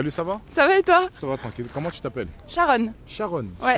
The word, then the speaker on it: Sharon: Sharon. Sharon. Ouais. Sharon comme le métro Sharon. Non, alors comme Sharon Stone.